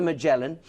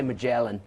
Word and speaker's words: Magellan: I say Magellan. No, I say Magellan because I was touring around 60-day cruises around South America. Oh, yeah. And that's the way the South Americans say it. Okay. Yeah, Magellan.